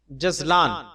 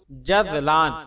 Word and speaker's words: جذلان: جواب: جزلان، اس کا صحیح تلفظ جذلان ذال کے ساتھ ہے۔ اس کے معنی خوش